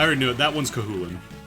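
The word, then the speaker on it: Cú Chulainn: somewhat often, like Saoirse, and that's not actually pronounced like Sauriers. I already knew it. That one's Kahulin. Not Choo Choo Lane.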